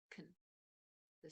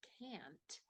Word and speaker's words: can't: milk okay but with can't even if we're not pronouncing the T at the end very strongly we are pronouncing the vowel sound in the middle can okay can't it's